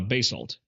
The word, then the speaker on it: basalt: So the white stones are made of sea shell and the black stones are uh basalt or basalt. Bazalt I think is the correct way to pronounce that.